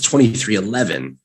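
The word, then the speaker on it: 23XI: was confirmed to be 23 xi racing i'm sorry to pronounce 23-11 and the team's entry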